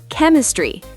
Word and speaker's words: chemistry: Sometimes ch sounds like C, especially in words from Greek. Wait, what? Give me examples. School, character, chemistry, chaos, stomach.